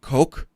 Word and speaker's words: coq: Do you need to spell it? COQ. It's COQ. Oh, COQUE? No, just COQ. Coke? Sure.